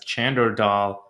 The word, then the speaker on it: Chander Dhall: My name is Chander Dhall, commonly pronounced as Chander Dhall.